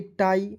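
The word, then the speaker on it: tie: पाई उसके बाद देखिए टी आई ई को क्या पढ़ेंगे टाई मजा आ रहा है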